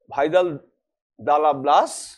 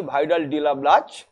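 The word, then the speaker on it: Vidal de la Blache: ফরাসি ভূগোলবিদ ভাইদাল দালা ব্লাস, বা অনেক সময় আমরা উচ্চারণটা করি ভাইডাল ডিলা ব্লাচ, তিনি এটা বলেছিলেন।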